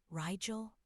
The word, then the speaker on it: Rigel: "Am I pronouncing it right? Rigel?" she repeated, pronouncing it as it was written.